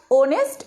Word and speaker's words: honest: Okay, after that you see C is dash, again H is hidden, honest woman.